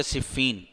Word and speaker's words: صفین: کا نام تھا صفین۔ صحیح تلفظ اس کا کیا ہے؟ صفین۔ بعض اس کو صفین پڑھتے ہیں، صحیح تلفظ ہے صفین۔ اس مقام پر یہ